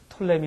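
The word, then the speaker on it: Ptolemy: 그래서 여러분 클레오파트라는 이런 사람들이 다 이집트 이 왕국 우리가 이제 영어로는 피자가 있어서 이제 프톨레미 이제 그렇게 이야기하는데 피를 많은 경우에 이제 묵음 처리해서 톨레미 왕조다 이제 그렇게 이야기합니다.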